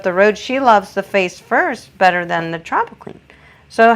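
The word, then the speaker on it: Furst: It's called Face First, but it's spelled F-U-R-S-T, not F-I-R-S-T.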